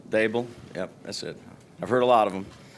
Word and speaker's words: Daboll: it's Daboll. D like table, Daboll.